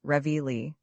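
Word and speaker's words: Reveille: In the American army, it is ingeniously called Revi. And to that pronunciation, our countrymen have pledged their lives, their misfortunes, and their sacred dishonor.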